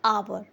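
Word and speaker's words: hour: अब इसी तरीके से हम दूसरे वर्ड पर आ जाते हैं जो कि है आवर। अब इसको ध्यान से सुनिएगा, इसका साउंड आ रहा है आ, आवर, because H is silent hair, uh.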